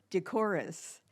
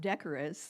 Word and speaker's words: decorous: taught me a few like decorus and not decorous the way IO has pronounced it so um as